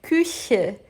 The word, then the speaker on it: Küche: dos dentes de baixo, abre a boca num sorriso e sopra. Küche, küche, küche.